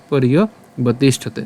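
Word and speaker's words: পর্যবতিষ্ঠতে: এখানে এখানে রেফ আছে, সো আমরা উচ্চারণটা কেমনভাবে করব? পর র হসন্ত পর্যন্ত উচ্চারণ করব, এবং যে অন্তঃস্থ আছে এর উচ্চারণটা ইয়র মতো হবে, তাহলে ইয় হবে ইয় বতিষ্ঠতে, ইয় বতিষ্ঠতে।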